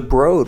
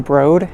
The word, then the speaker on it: Broad: advance just escaped the broad and I ran across the street here to the Disney Concert Hall to talk about my experience the broad often pronounced the broad which I think is incorrect but there might be